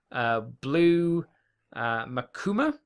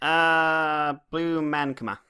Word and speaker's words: Blue Mankuma: We have an announcement for a guest for Blue Makuma. Is that how you'd say his name, Mikey? Blue Mankuma.